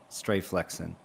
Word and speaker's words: Stray Flexing: It's stray, but it's kind of like you were mispronouncing straight. Stray flexing.